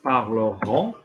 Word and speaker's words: parleront: Because ONT get pronounced. Yeah? Ils ont, or the future tense, parleront.